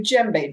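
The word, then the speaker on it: djembe: was i took a gem bae drum that's what this is it's spelled e m b e you don't pronounce the d i don't do african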